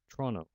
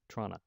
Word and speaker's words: Toronto: consonant clusters so that a word like toronto might be pronounced toronto or trona with a parenthesis we